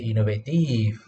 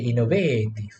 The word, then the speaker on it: innovative: You don't say innovative. You don't say innovative. It sounds Italian, right?